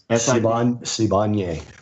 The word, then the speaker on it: Sibanye: I can't pronounce anything. Stillwater and... How do you say it? Sibanye. Sibanye publicly announced that Stillwater had entered into an